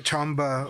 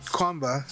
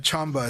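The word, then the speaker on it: Qanba: I did get a Chamba or Kwamba as you call it, but Chamba is actually what it's pronounced, Chamba.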